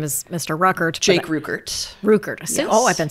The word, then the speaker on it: Ruckert: Jake Ruckert. Ruckert. Yes. Oh, I've been saying it wrong all these years. Yep, it's Ruckert.